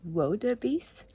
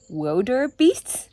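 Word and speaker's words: wildebeest: the first one is that wab Beast is pronounced wab Beast not Wilder beasts I thought their name means that there are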